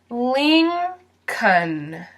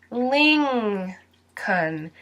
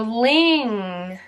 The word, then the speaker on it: Lincoln: letter that also does not get pronounced in this word and that's the L lean cun and if you listen carefully Ling cun it sounds like there is a G at the end of Li n so Lincoln Lincoln Lincoln Lincoln Lincoln so